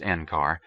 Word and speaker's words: NCAR: to the complex as enar pronounced enar because of its 25e stent as the national Center for atmospheric research when encar had finally